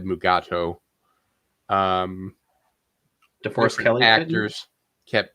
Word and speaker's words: Mugato: private world war even though the script said mugato um the first actors kept yeah different actors kept us pronouncing it uh i know d keller kept saying maguto and somebody kept saying gamato so that's where the um uh title came